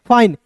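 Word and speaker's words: fine: है मैं बताना चाहूंगा एफ का दोस्तों फ हो जाता है और आई का उच्चारण आई के रूप में करते हैं फाई और एन का दोस्तों न हो जाता है और अंतिम में आया ई साइलेंट बताइए इतना नियम पढ़िएगा तो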